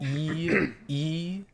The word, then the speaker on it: Deeble: You looked How like do you spell that? Yeah, you looked like a Deeble. Oh, thank you. It's Bull. D-E-E-B-L-E.